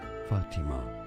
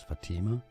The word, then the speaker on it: Fatima: Fatima is how it's said in Arabic. Fatima? Often pronounced in English as Fatima.